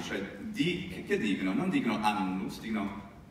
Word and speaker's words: annus: Non dicono annus, dicono anus.